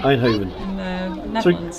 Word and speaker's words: Eindhoven: interested in anything like this how do you pronounce this eindhoven i'd hover here einhoven okay we've got a 737 off to einhoven